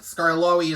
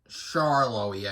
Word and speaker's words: Skarloey: In the Latin America dub of, I think Skarloey is mispronounced as Charloey, I believe.